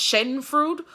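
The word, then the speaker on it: Schadenfreude: German word and I think it's spell or pronounced Shaden fruit uh s-c-h-a-d-e-n-f-r-e-u-d-e the German word for taking pleasure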